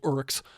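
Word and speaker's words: Orruks: Technically, they don't call them orcs; they're called urks.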